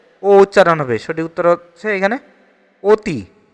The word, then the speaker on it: অতি: সঠিক উত্তর হচ্ছে এখানে অতি। আ এর স্বাভাবিক উচ্চারণ নেই কোনটিতে?